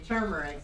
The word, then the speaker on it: turmeric: Dan started saying turmeric and then I started thinking I said it wrong but tumeric. I know there's a R there but shit the Oreo sold for 1.7.